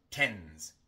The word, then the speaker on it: tends: Tenemos una D entre N y S y entonces omitimos la D. En lugar de tends, decimos tens, tens, porque es muy difícil y antinatural pronunciar una D entre dos consonantes.